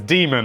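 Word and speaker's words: Daemon: demon eggs machina and yes it is demon I spent a good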